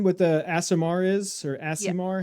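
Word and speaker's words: Aasimar: And um and Jess, can you explain what the Asimar is or asimar? How you pronounce that?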